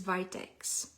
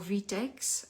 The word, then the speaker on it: Vitex: most appropriate remedy is Vitex or v-tex I heard it in both pronunciations um VTX also is